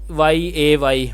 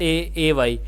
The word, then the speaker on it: A: It is not YAY but AY. A rhymes with say.